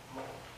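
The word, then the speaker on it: mho: It's the opposite of ohm. If this is ohm, this is mo.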